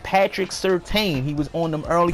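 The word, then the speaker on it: Patrick Surtain: got another one that people don't know how to pronounce his name it's Patrick certeyn he was on them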